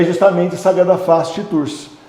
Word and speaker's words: Tours: Escreve com T mudo no final, a gente não fala, mas escreve com T mudo.